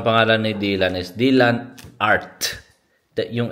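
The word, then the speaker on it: Arth: Devi dire alla maestra Martina, nome mio non è Heart. Art. Dici all'H, ma alla fine.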